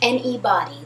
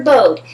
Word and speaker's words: Bode: Some people pronounce it Bode. The Anybody's by Anybody. I prefer Bode.